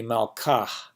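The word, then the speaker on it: מלכהּ: But if the hey at the end of that had a mappiq, it would be malkah, right?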